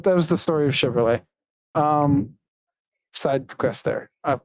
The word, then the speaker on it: Chevrolet: Preferably Chevrolets.